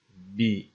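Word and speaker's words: بِ: Ardından bi ismin yani ba değil bu. Bi ismin. Yine sümmiyeden sonra ba harfi cerrinin geldiğini görüyoruz. Ba dediğine bakma. Bi diye okunuyor.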